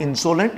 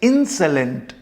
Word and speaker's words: insolent: सकते हैं okay anyway so इट्स नॉट इनसोलेंट इट्स इनसोलेंट this O is pronounce just like you know ए हल्का सा ए का साउंड आता है यहां से इंसं